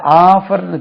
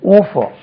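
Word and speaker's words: offer: எப் எப் இ ஆர் இதை ஆஃபர்ன்னு சொல்லக்கூடாது ஆஃபர் கிடையாது இது ஓபோ ஓபோ இதுல ஆலே பாதி ஓபோ நம்ம ஆஃபர் ஆஃபர் போட்டு இருக்கான்ப்பா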